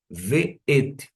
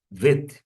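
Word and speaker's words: ואת: Ve'et. Eu não falo vet, ve'et. Eu falo adequadamente. Ve'et. Não é dito de uma outra maneira por conta da identificação da sílaba tônica.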